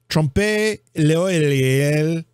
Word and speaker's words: trompe l'oeil: It's T-R-O-M-P-E, trompe, and it's l'oeil, which is L apostrophe O E I L, L apostrophe O E I L, trompe l'oeil.